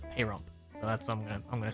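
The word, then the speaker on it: Pahrump: Perump. Perump. I keep hearing people pronounce it payump.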